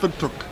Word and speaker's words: Windhoek: It's pronounced Windhoek.